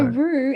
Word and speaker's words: Roo: So Roo, or just say it in English, one of the two. Roo as the diminutive of kangaroo, ROO.